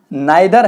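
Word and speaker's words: neither: ऑफ हिज 3 sons नाइदर हैज any merit. इसको हम नाइदर भी पढ़ सकते हैं, इसको हम नीदर भी पढ़ सकते हैं, डिपेंड ऑन प्रोनाउंस।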